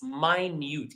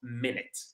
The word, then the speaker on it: minute: Please focus on the uh pronunciation of the last word. It's minute. It's not minute.